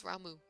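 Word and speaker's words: Ramuh: I'm gonna say his name right. It's Raumu.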